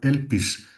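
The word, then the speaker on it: ἐλπίς: La palabra esperanza en griego se pronuncia elpis, de manera que la esperanza nace o se aprende precisamente en el proceso vital.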